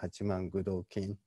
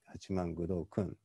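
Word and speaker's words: 八幡愚童訓: i mean i'm sorry one of my professors with whom i learned this uh this channel he always used the uh the king said the edo period pronunciation so he kept saying hachiman gudo kin but in the medieval context i have to say achimangudokun so the earlier and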